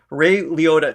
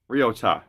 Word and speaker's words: Ryota: Okay, so Ray Liotta turns out was not correct, which is weird. So it's Ryota. Ryota, just Ryota.